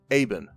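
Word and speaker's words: Eibon: the common tongue and that you read as aben i spell it e-i-b-o-n i bo in yeah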